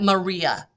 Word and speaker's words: maria: I know it looks like Maria, but it is pronounced Maria.